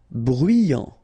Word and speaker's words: bruyant: Bruyant, final T not pronounced, so you get bruyant.